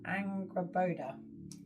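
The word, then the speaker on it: Angrboda: How do you pronounce her name? Angraoda. So let me read what it says about her. I'll show you a picture of it. Angraoda. So, let's see what it says. Angaboda.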